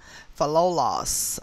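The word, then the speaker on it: Philolaus: i can pronounce this fellows fellows and it is spelled p h i l o l a u s for loss okay and he lived between 470 bc and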